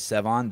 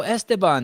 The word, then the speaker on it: Sevan: people from Mexico, and whenever I say my name is Sevan, they'll be like, "Oh, Esteban, nice to meet you." Like every time, because they don't have Sevan, right? Sevan's like a lake in Armenia.